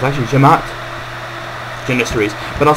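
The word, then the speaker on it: Cemaat: Actually, to be honest, that they say Simat in this game. It's actually Jemaat Janissaries, because C is pronounced like J, so it's actually Jemaat Janissaries.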